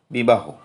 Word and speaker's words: বিবাহ: বিবাহ উচ্চারণ হবে বিবাহ।